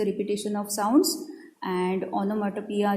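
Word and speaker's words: onomatopoeia: इसका प्रोनाउंसिएशन आपको याद रखना है, ओनोमेटोपिया.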